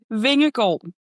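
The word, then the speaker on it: Vingegaard: Yeah, 10 seconds in and we're learning that everyone's saying Yonas's name wrong. So, how do you say his name? Vingle.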